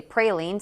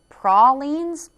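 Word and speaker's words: praline: national pralin day now opinions are divided on how to say it some say pralin others say prolin all right they were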